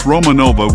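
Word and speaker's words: Romagnola: remains friendly number four it's pronounced Romanova with G silent the Romanova breed of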